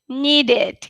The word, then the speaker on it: needed: pronounce it needed needed it can't be number two because it's not it's id did needed needed okay um next